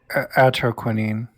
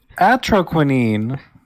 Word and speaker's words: Atroquinine: Atroquinine. Okay. That's what Ogcry says is how you pronounce that word. What word? Atroquinine.